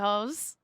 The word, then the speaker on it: Haux: Thank you, hoes. Sorry, Let me spell it. Yeah. H-A-U-S, house. H-A-U-X, ho.